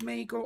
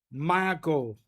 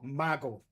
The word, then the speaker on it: Mago: Is it is it pronounced mogo? I mean there is a a thing here, right? Which tells you how to pronounce it. Margo. Ma as in mama. Go as in go. Margo.